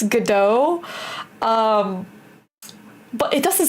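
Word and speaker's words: Godot: So apparently the T is silent. So it's gdo but it looks like when you read the name it looks like go dot right.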